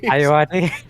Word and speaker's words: Ayoade: I honestly, that's the first time I've heard his last name pronounced. Could I get that one more time, James? Ayoade. Iowati, thank Yeah.